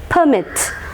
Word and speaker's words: permit: സോ പെർമിറ്റ് is considered as എ noun, and if the same word used as a noun at the same time as a verb, the stress changes from first syllable to the second syllable.